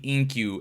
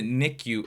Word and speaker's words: NICU: how to pronounce it I have always called it the inku and my home girl was like what her baby's in the what and I was like in the inku and she's like no it's the nicku and nicku how do